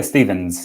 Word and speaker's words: Stephens: in Facebook welcome is it Stephens am I pronouncing your last name right yeah Stevens yep that's me Stevens right yeah cool